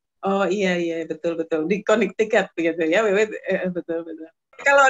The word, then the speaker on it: Connecticut: Jadi Connecticut mah bacanya Connecticut gitu.